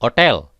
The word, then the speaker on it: hotel: garganta hai agosto Hai huruf H diucapkan ha tetapi hampir tidak diucapkan sangat lemah sekali Hai misalnya Hai hotel hai hai hai Hai